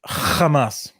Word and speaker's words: Hamas: cited was um Hamas um sorry I pronounce it correctly Hamas um do you do